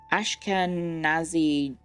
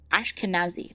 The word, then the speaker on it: Ashkenazi: Ashkanazi Jew. I guess he is quite smart. Oh, wow. He's He's quite the stats. He's quite sted up. Um, his name is Salim Salamedas. Ashkenazi.